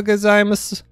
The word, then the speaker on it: gozaimasu: It says, Ohio gozaimasu. Ohio! All the Japanese people laughing at us for our terrible pronunciations. Gozaimasu, maybe. It's mas. You don't pronounce the U.